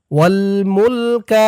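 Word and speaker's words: والملك: শারিকালা calf জবর কা লা শারিকালাক লা শারিকালাক ওয়াল মুলকা লা শারিকালাক ইন্নাল হামদা ওনিমাতালাকা ওয়াল মুলকালা শারিকালাক এই পর্যন্তই হচ্ছে হজের তালবিয়া।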